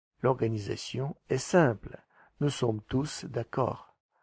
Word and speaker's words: tous: Nous sommes tous d'accord. Обратите внимание, что местоимение «tous» произносится с «s» на конце, в отличие от прилагательного во множественном числе.